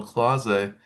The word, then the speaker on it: Clase: Clase, yeah, Clase.